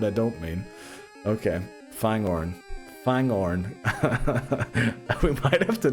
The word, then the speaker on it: Fangorn: Fagorn for my boy Treebeard. Okay, thorn. Did I mispronounce that just there?